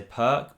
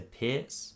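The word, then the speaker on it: Pirc: is the piers defense i always used to say perk but i'm pretty sure you're supposed to say pierce to do the correct pronunciation so knight c3 played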